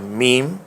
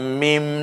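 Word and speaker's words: ميم: সেটার নাম লাম তাহলে কাফ লাম পরেরটার নাম মিম এই হরফটার নাম হচ্ছে নুন মাশাআল্লাহ কাফ লাম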